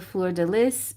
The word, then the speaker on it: fleur de lis: This is the fleur de lis, and that's how you pronounce it, because I researched it and people have told me 1,000 times that's how you pronounce it.